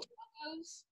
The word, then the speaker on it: tacos: Do you mean tacos? No, tacos. It's right there. Tacos. That's pronounced tacos. It sounds like talk, like TikTok, or as in you talk funny.